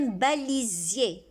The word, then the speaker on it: balisier: Et le mot du jour, c'est un balisier. Cette plante avec une fleur rouge s'appelle le balisier. Pourquoi on dit Z ici les enfants? S se prononce Z parce qu'il est placé entre deux voyelles, I et I.